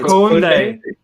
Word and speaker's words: Kunde: George is saying Matisse back with his pronunciations again. Kunde. There you go. Dyke Ezike has said it's Kunde.